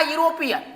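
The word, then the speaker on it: European: बट अगर हम इसकी उच्चारण की बात करेंगे तो यो आता है। जब ये ओ आता है तो उच्चारण यो आ रहा है, यूरोपियन आ रहा है, तो यहाँ पर 100% ए लगेगा।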